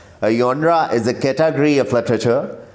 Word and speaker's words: genre: Genre, pronounced genre, is derived from the French phrase genre meaning kind or type।